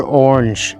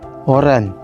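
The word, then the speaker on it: oren: It comes from the fruit, oran. Oran. Quite easy, that one. Just a bit of accent on the R.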